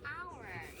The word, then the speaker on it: hour: 자, an hour. 자음으로 시작하긴 하는데요. 우리 이거 발음할 때 어때요? hour 이라고 하죠. 그렇기 때문에 어가 아니라 an hour 이라고 해주세요. 아시겠죠?